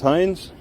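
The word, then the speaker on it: Heinze: Yeah, it's Hind. How do you spell that?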